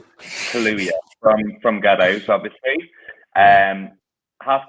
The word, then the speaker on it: Kaluuya: Daniel Kaluuya and Lakeith Stanfield, Best Original Screenplay, Best Cinematography, and Best Original Song.